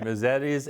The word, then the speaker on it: Mezedes: Um but we have Cassandra Hefner here from Misettes. Did I say it right? Yeah. All right. All right. Misettes.